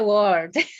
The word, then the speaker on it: world: for english speakers too by the way world uh world uh that l the l is the problem and uh you know